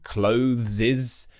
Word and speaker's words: clothes: So I've heard some people say clothes, and then other people really struggle to get that THS at the end of the word, clothes.